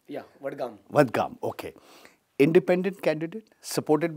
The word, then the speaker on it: Vadgaon: I got that pronunciation right? Yeah, Vadgaon.